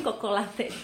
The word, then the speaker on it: Cocolate: Sebenarnya aku pikir ini coklat gitu kan, coklat, tapi tulisannya COCO, jadi bukan CHO. Jadi mungkin Cocolate dibacanya. Cocolate.